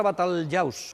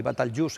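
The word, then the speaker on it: بطليوس: la que llamaron batalyaws la palabra batalyaws en árabe el literal y bat alius en pronunciación popular es un topónimo prerromano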